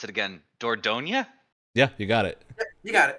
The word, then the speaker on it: Dordogne: Oh God, I'm gonna mispronounce it again. Dordogne?